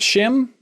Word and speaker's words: Schim: Hey, Haley, do you want to talk about Schim? Yeah, I can talk about Schim. Thank you for pronouncing it because I didn't know how to pronounce it. I was like, Schwim.